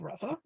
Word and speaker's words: Rava: The convention is that the guy whose name is spelled with a hey, who's the teacher, is pronounced Rabba with a bet, and the guy whose name is spelled with an aleph, who's the student, is Rava.